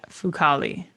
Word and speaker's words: Fucale: Yeah, Fucale. Okay, I nailed it. Then you can start from then they got shut out by. Then they got shut out by Zach Fucale and the Capitals on Thursday.